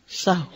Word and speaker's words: سہو: کا فعل بھی ہے۔ سہو ہوتا ہے، سہو نہیں ہوتا، سب لوگ اپنا تلفظ بھی درست کر لیں، سہو جیسے لغو، ٹھیک ہے، کرب، نفس، سہو۔ سجدہ سہو کے اسباب،